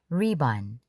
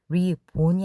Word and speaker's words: ribbon: 리번 리본이 아니라 리번 정의는 한 문장으로 이루어져 있습니다.